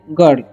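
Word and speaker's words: girl: तो आगे लिखा हुआ है सी इज अ, या ए भी बोलते हैं, गर्ल। ओके, यहाँ पर आई का उच्चारण अ हो रहा है, ठीक है, गिर नहीं पढ़ लीजिएगा आप।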